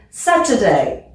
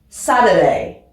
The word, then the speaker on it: Saturday: c'est l'anglais britannique plutôt Saturday Saturday party par internet internet donc là on prononce même pas le T ici c'est plutôt comme comme des d Saturday ça on l'entend